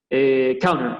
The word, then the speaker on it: counter: Counter, esa palabra, bueno, es medio tramposa para los que hablamos español porque la T no se pronuncia, es como que la T vuela.